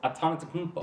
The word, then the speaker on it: Antetokounmpo: And I'm just like, it's simple. It's Antetokounmpo. Yeah. No, Like, it's Atento Kumpo. Antetokounmpo. Okay, whatever.